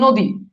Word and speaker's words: নদী: যেমন দেখেন নদী, এই যে দেখেন এখানে দীর্ঘিকার আছে, এটা হয়ে গেছে রস্বইকার।